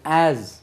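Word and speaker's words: as: ஜெட் என்று ஆஸ், இது ஆஸ், எஸ் என்று உச்சரிக்கக்கூடாது. ஆஸ், ஆஸ் போல.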